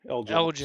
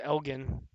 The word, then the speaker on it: Elgin: Elgin. Soft G. Everybody always says Elgin.